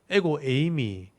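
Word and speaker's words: ἐγώ εἰμι: 에고 에이미, 이게 헬라어로 발음하면 에고 에이미라는 건데 나는 무엇이다 이런 표현이에요.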